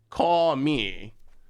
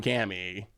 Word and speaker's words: kami: caught no call me call me isn't that that's the that's the way you're supposed to say it right caw me because when i say kami kami is the one that everyone said was not the correct pronunciation especially for japanese so that's when i'm